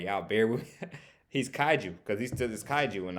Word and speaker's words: kaiju: compared to them cuz of cuz um he's kajuan and I keep on pronouncing his name right y'all bear with he's Kaiju because he's is kaiju and all so he